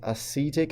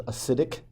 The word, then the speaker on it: acetic: know learn the names they mispronounce it as acidic acid it's not acidic acidic right acids by definition are acidic so it's not an acidic acid and then carbonic acid